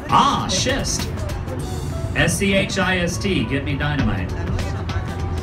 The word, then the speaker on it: schist: break up with the show you'll say ah schist SCH IST get me dynamite it's why we